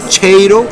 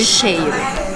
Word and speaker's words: cheiro: Cheiro. Entonces. Como si fuera el sonido de silencio. Cheiro. Entonces la che, que es muy pronunciada en español, en realidad en Brasil, en portugués, es che. Como shampoo, sí.